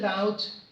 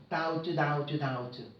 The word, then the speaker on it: doubt: And people doubt. 여러분, B가 발음이 안 됩니다. 여기 지금 S가 발음이 안 되는 것처럼 아일랜드. 그리고 사람들은 의심합니다. 다부터 하지 말고 doubt.